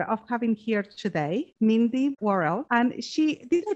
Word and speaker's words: Worel: have the honor of having here today, Mindy Worrell. And she, did I pronounce it well? Mindy? Yes, Worrell.